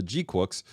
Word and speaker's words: GQuuuuuuX: There's a fight between Charasold in the Red Gundam and in Zeon's very own Gundam, the Gquex, or Gqu is how they pronounced it in the show.